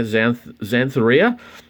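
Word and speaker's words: Xanthorrhoea: collection i already have and i've checked the pronunciation yeah xantharia which is a fern uh plant uh in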